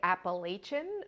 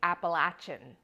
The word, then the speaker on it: Appalachian: And by the way, I grew up saying Appalachian, but I have since come to understand that the pronunciation is actually Appalachian, like I'm going to throw an apple at you.